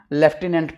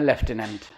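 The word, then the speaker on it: lieutenant: द लूटने governor है इसी को हम लेफ्टिनेंट पढ़ते हैं और स्पेलिंग है लूटने एल आई ई यू टी ई एन ए एन टी लूटने और इसे हम पढ़ हैं लेफ्टिनेंट लिखते हैं लूटने ओके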